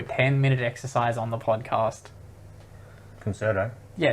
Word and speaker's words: Concerto: Concerto.